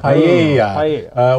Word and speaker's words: paella: Paella. You don't pronounce it. Paella.